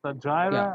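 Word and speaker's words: Stateira: Yes, the Stagira. I don't know how you pronounce it. Statera.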